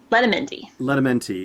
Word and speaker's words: Letamendi: I'm sorry, I'll have to ask you to pronounce her last name. Letamendi.